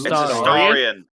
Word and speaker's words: Astarion: Asterion, shouldn't did you say? use cologne with me last night? No, I farted on you. Huh? Name wrong. It's Astarion?